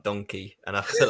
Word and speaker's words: Denkey: on the topic of Kevin donkey that's how you should pronounce it that's how we pronounce it himself a few weeks ago